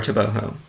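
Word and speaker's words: Tebogo: a personal record I have Lil toboo or toboo as it's pronounced apparently so toboo has yet to run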